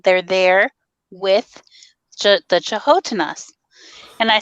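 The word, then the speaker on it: canotina: they're there with the chahotenas and i said the what and he said the chihuahuas and that it's actually spelled cano tina c-a-n-o-t-i-n-a but it's pronounced chahotena and he said those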